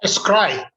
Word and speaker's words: Scry: Alok Aggarwal, who is the founder of, how do you pronounce the name of your company, Dr. Aggarwal? Scry, S-C-R-Y.